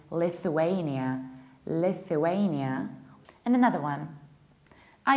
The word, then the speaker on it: Lithuania: Usually people say Lithuania or Lithuania. So you should say Lithu with the os, Lithuania, Lithuania. Americans might say Lithuania, Lithuania.